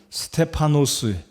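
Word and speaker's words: Στέφανος: 도전을 받기를 원합니다 여러분 스데반이란 이름은 스테파노스 헬라어 발음으로 제가 설교 뒷부분에도 언급을 드리겠지만 스테파노스 이게 헬라어의 발음입니다 스테파노스란 뜻은 면류관이다 또는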